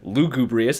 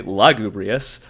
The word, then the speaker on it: Lugubrious: last episode episode one we pronounced lugubrious children incorrectly we said lugubrious it's actually lugubrious and they're from Leeds